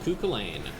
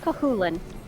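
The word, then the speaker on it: Cú Chulainn: It's another name that I'm never sure if I'm actually pronouncing correctly. I'm fairly I feel like it is. I think I've heard it pronounced Cahulin. I think you are probably correct. Very faintly of Cullen, you know.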